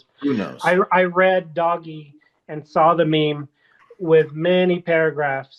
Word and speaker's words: Doge: Doge. But the meme that predates the coin by five ten years was pronounced doggy.